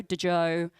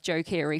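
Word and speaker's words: Joe Keery: one a couple of weeks ago with Joe de Joe I was call him dejo but he's it's pronounced Joe Joe Kiri from stranger things he came in um and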